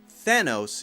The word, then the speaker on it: Thanos: The next one is Thor, and Thor is easy to mispronounce for the same reason that Thanos is easy to mispronounce, so you have to be careful about the TH.